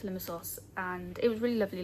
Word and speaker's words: Limassol: I didn't do any reading yesterday because obviously we went to Limassol, which I've been pronouncing wrong by the way. It's Limassol, not Limassol, but it's Limassol, and it was really